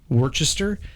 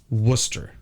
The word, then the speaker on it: Worcester: a place in Massachusetts it's spelled w r c s t e r so it looks like Worchester it's Worcester Worcester there's a Worcester Ohio